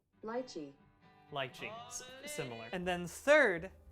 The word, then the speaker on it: lychee: Lychee? Lychee. Lychee. That's the British pronunciation. Let's hear it in American. Lychee.